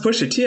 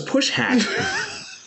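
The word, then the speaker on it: Pusha T: that Solomon have the it's pronounced push a t I thought it was push hat sorry that was my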